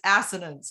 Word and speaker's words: assonance: literary devices and saying this one is assonance and there's this ass they like keep saying it yes that's how you say it they're just they're like